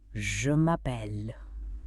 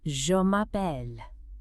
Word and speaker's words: Je m'appelle: giving you a chance to really hear the pronunciation. First up, to state your name. Je m'appelle. Let me say that again slowly. Je m'appelle, which means my name is. That's the classic one, right? Je m'appelle.